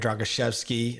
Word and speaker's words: Drogoszewski: Today's guest is Drogoszewski. I believe that's the pronunciation of his last name.